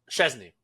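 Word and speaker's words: Szczęsny: Chesney.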